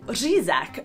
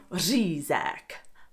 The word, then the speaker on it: řízek: many Czechs actually eat řízek for Christmas dinner, which is essentially schnitzel, but impossible for foreigners to pronounce, which makes it an especially Czech dish. Say it with me. Řízek. Řízek.